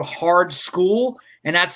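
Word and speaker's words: Skool: jeff the second single they dropped called hard school and that's spelled s-k-o-o-l dropped two or three days ago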